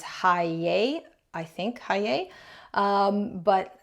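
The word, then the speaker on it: Heye: the Hay brand or I believe the German pronunciation is Hi. I think Hay. Um, but North Americans we tend to call it Hey.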